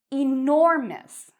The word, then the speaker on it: enormous: We have: "huge", "enormous". And notice the stress is on the "nor" part.